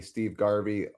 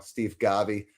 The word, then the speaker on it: Steve Garvey: Max Muncy 133, Eric Karros 130, Ron Cey 123, Steve Garvey what Oh, sorry said it wrong Steve Garvey 118 and Matt Kemp with 117.